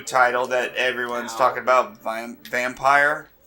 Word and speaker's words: Vampyr: Vampire, spelled with a Y.